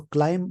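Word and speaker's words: climb: 4.8% as food prices क्लाइम। क्लाइम का मतलब होता है, जैसे बढ़त को बोलते हैं, एसेंड होता है इसका मतलब बढ़त, बढ़ने को बोलते हैं। सो क्लाइम बोलते हैं, बी साइलेंट होता है बोलने में।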